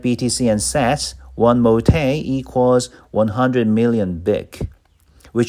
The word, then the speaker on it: MoTe: It's called MoTe.